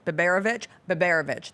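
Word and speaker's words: Biberović: Tarek Bivarovic, Yeah. whose name I might be mispronouncing. Biberovic? Yeah. Biberovic. That sounds correct.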